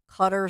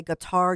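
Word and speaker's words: Qatar: to the this is some people pronounce it cutter some people say guitar you've heard different pronunciations but it's the qat a Ri so it's nowadays the the hip way to say it's cutter it used to be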